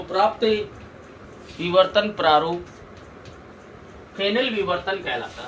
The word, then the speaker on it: Fresnel: इन फ्रेनेल diffraction, as silent है फ्रेनेल में, इन फ्रेनेल diffraction in Fresnel diffraction, incident and diffracted wavefronts are spherical or cylindrical.